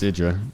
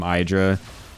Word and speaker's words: IdrA: It's Idra, yes. Yeah, that was always the meme that fucking Artosis just always called him Hydra, but that's not how you say it at all.